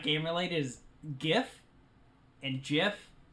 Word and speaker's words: GIF: not game relate is gif and jiff the creator says it's supposed to be pronounced jiff but graphically but everyone